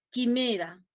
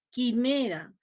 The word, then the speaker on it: quimera: Miren esta palabrita, quimera, ¿no? Yo no produzco la U, quimera, por lo tanto no es un diptongo, ¿no? Yo escribo la U, sí, pero no la produzco.